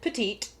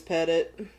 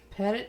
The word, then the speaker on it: Petit: And while other people have pronounced it Petit, Right. it is Pettit. Pettit is the last name, Pettit.